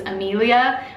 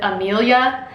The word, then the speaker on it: Amelia: other countries pronounce it, which is Amelia, where you say all of the syllables. But most people in America pronounce it Amelia, like they kind of cut off a syllable.